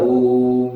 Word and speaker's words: Om: So, when you pronounce the word Omkara, Om, it's long, it is a Pluda, not Hraswa, it's Pluda. So, it should be pronounced as Pluda.